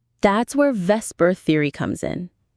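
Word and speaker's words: VSEPR: That's where Vesper theory comes in. Vesper. Spell that out.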